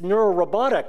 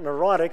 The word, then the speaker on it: neurorobotic: And I was like, well, really, what I told him was it's neurorobotic, not neurotic. So he dropped a syllable, made headlines.